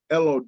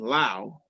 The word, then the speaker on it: Lowe: And I kept saying to myself, like, first of all, why is this dude's name Lau? It's spelled Lowe. Everybody I've ever seen Lowe has been low. But Right. This dude's name is Brandon Lau.